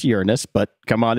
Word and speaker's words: Uranus: I know it's pronounced Uranus, but come on, it's Uranus.